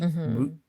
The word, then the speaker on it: moot: He misheard it because it's a silent T, right? It's sort of silent. It's a stop T. Moot.